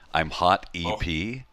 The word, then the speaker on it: Imhotep: like just a wall of ones that I've mispronounced because you do this job long enough. There's a lot of them. But, I'm Hot EP and Imhotep.